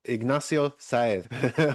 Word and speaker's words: Sáez: Ignacio Sáez, which is the Spanish attempt at pronunciation of his name.